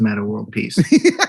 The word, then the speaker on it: Meta World Peace: But you don't pronounce the X's. It's just Meta World Peace.